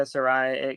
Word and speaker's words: Saraya: Saraya. It could be either or, but I think it's A in a way, like, Saraya.